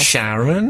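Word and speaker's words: Charon: Sharon. CH, not SH.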